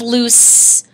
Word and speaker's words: loose: At the end of loose, we are actually hearing the S sound, like in CE. So here the sound at the end of our word is kind of odd.